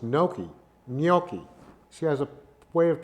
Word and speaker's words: gnocchi: It's gnocchi. She has a way of pronouncing it, which I can never do. It's pronounced gnocchi, which is not pasta.